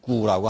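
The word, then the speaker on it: 鼓: 뜻은 그러한 북, 음은 고, 그래서 중국 발음은 구라고 합니다.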